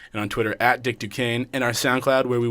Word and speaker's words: Duquesne: twitter is at dick duquesne it spelled d Duquesne is spelled d u qu es n e ok u qu es